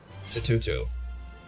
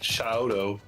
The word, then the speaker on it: Shatoto: You're saying it wrong. Shatoto. Yeah, it's not Shaoto. Shatoto.